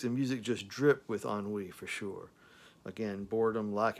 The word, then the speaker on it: ennui: It's called Ennui. It's spelled E-N-N-U-I. It's pronounced Ennui, which basically means boredom, bored, you know, inactive, lacking adventurous, you know, it's just boredom.